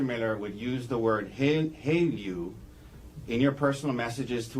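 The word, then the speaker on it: HALEU: HALU.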